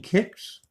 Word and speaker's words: CICS: IMS and others you you mean people are still using kicks that's how you pronounce that let's look up